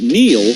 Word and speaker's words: Neil: It's no coincidence that Neil rhymes with deal, because that's something you